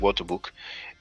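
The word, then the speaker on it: Wörterbuch: Um, but usually in English pronounce it water book.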